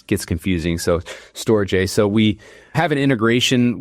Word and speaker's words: Storj: by store J it's SJ um some people pronounce it storage but we say storage so many times that it's gets confusing so stor J so we have an integration with with storj